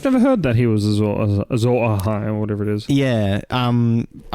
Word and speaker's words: Azor Ahai: I guess same could be said of Jaime, but then there is that whole Azor Ahai thing.